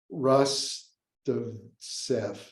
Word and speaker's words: Rostovtsev: There was a Ukrainian historian, I always have trouble pronouncing his name, Rostovets or something. I have to look up the Ukrainian classicist who taught at Yale, Rostovtsev.